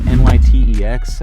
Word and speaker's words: NYTEX: over to the venue it's spelled n-y-t-e-x I I guess you say nytex it's the night tech center so I'm gonna drive